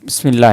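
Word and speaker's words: بسم الله: जैसे आप देखे थे ना ये बिस्मिल्लाह। ये क्यों है? इसका माना पता है ना आपको? अल्लाह ताला के नाम से। बिस्मिल्लाह ही है ना? ये बिस या अलिफ साइलेंट है असल में इस्म।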